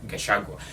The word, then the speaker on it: Gachagua: Okay, am I pronouncing this well? Gachagua. Yeah, Gachagua.